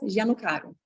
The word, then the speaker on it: Giannocaro: E como é que se pronuncia o total disso? É Maiara Zeleniacas Gianocaro.